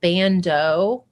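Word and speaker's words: ban.do: her posting about it i think you pronounce it bando it's like b a n period d o they have the cutest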